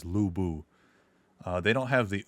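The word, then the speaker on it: Lu Bu: could just like say lubu or whatever. People in the discord have been like, "Oh, you say it like lieu." And that is that is not correct.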